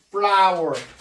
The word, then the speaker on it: flour: 비록 뭐뭐일지라도 even though she used a large amount of flour. 자, flour라는 것은요, 그 flower, 꽃하고 그 flower, 이 꽃하고 발음은 같습니다.